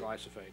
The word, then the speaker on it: glyphosate: Is glyphosate. That how you pronounce yeah, it? Yeah, glyphosate, yeah.